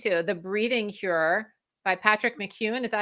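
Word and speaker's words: Patrick McKeown: me the link to the breathing Cure by Patrick McKeon is that how you say it yeah so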